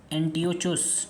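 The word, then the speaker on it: Antiochus: ये क्या थे, एंटियोचुस, ठीक है, एंटियोकस, ये ऐसे ऐसे नाम है ना, प्रोनाउंसिएशन में बहुत दिक्कत होती।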